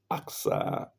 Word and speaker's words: Aqsa: And that is Al Aqsa mosque, the proper pronunciation being Aqsa, Al-Aqsa Mosque, Masjid al-Aqsa.